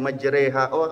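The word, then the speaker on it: مجراها: qiroah itu ada 11 Kenapa dibacanya Bismillahi majreha ada karena imalah padahal tulisannya majroha betul Kenapa dibacanya begitu mereka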